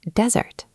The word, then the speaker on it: desert: The noun desert has stress on the first syllable. We say desert.